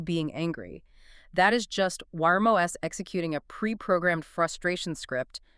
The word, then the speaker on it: Wyrm: They call it Wyrm. Wyrm like a dragon.